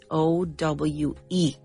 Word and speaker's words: owe: And this is a verb, owe or to owe, and it's spelled O-W-E, owe, but the E is silent.